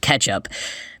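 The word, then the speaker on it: kecap: fish and soy sauce cacao k-e-c-a-p actually pronounced ketchup mark kerlansky in his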